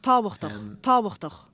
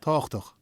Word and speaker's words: tábhachtach: With this V sound in the middle. But the kind of, in the middle of the word, this like broad BH is silent in Munster, so you get táchtach instead.